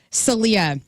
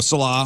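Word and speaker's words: Saleh: one less head coach Robert Celia no Salah Salah I wrote it phonetically for you too has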